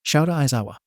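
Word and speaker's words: Shouta Aizawa: your home room teacher shouta isawa and yes that is how you say my name and whoever says otherwise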